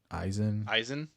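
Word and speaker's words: Izien: Izzian. Eizen. Oh, yeah. Eisen. Eisen. Eisen.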